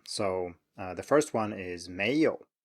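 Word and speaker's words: 没有: You can rise at the end here if you really want to, but most people just say 没有. They don't say 没有, even though your teacher might say that. If there was anything I would recommend here, it's simply to do the same thing for the second tone as we've talked about. Start a little bit lower, and don't forget to emphasize it all the way through.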